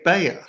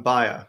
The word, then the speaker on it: Bayer: to the episode I I say Bayer now that I've been in America for a few years but in Europe people call the firm buyer right yeah so that's